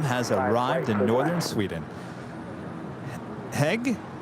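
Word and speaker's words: Hej: Hi, Kevin and Rudy. Hope everything is well with you both. Autumn has arrived in northern Sweden. Heg, hello, pronounced as hi.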